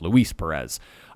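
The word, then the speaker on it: Luis Pérez: I've been saying his name wrong all season long, and I just realized that the other day. It's Luis Perez.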